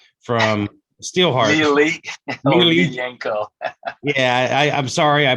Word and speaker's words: Miljenko: Miljenko. Yeah, I'm sorry I butchered it, man.